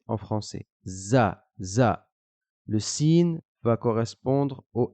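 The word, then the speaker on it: ذ: la prononcera da da la lettre zal va se prononcer un peu de la même manière que la lettre sa juste au-dessus on va sortir le bout de sa langue et le pincer entre les dents et on va dire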